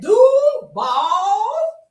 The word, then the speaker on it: Duval: That's how they say it too. You gotta say it like that. Duval.